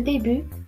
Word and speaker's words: début: Vous avez le début, après, blanc, un camp, froid. Voici la correction. Donc le début, la lettre muette, c'est la lettre T.